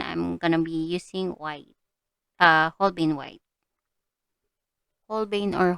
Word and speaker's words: Holbein: But for this one, I'm gonna be using white, Holbein white, Holbein or Holbeins. So if you're confused why I'm keep on saying Holbeins, that is how we pronounce it here in Japan.